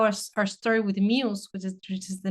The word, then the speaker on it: MUZE: So, and that's how our story with MUZE, which is the name of the company that we created in 2018, came about.